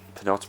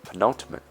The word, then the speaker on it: penultimate: I've got one episode left this was the pronounced episode penalty episode but yeah penultimate yeah penultimate that's all right that is the